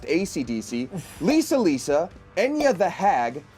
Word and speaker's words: Esidisi: Speedwagon, Spice Girl, Green Day, Dire and Straits, they're 2 different people, Sex Pistols, ECDC, pronounced ACDC, Lisa Lisa, Enya the Hag, and Giorno Giovanna.